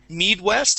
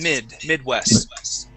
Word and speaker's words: Midwest: at is Midwest okay we're going to use a short I sound here instead of Midwest it's mid Midwest okay mid rest good